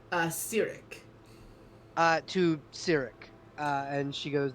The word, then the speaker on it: Cyric: How do you pronounce the god's name? Cyric.